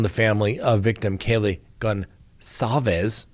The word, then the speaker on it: Goncalves: And they are denying telling the family of victim Kaylee Goncalves, that's right, soft C apparently, almost sounds like an S, that her injuries were more brutal than those of other victims.